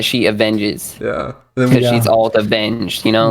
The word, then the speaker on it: Alt_Avenged: he said I said Alt Avenger. Yeah. And it's Alt Avenged.